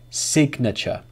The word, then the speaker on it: signature: But there are some exceptions, because English has many, many exceptions. So listen to these ones. Magnet, cognitive, signature. In these examples, the G sound is pronounced.